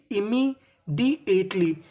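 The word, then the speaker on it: immediately: इसे तोड़ लेते हैं एम दो बार है उच्चारण एक बार करना है एल वाई एल वाई को पढ़ना है ली तो मीनिंग बन गई इमीडीएटली इमीडिएट का मतलब होता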